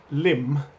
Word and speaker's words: Lympne: And in those 6 weeks, I would cycle to work from Lymm, near Hythe in South Kent. That's spelled Lympne, to Cheriton in Folkestone, Tile Kiln Lane in Folkestone.